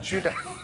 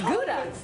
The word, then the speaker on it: Gouda: It's not Judah. It's gouda. Cheese.